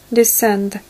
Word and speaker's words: descend: лететь в горизонтальном полете, descend – снижаться. D на конце четко читаем, потому что если вы прочитаете T, то получится другое слово, вот такое вот. Descent – снижение.